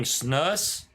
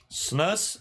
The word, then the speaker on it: snus: that's what it is snooze rhymes with loose Snus I've never called it snooze but oh he's recommending